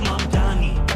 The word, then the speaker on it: Mamdani: The name is Mandami.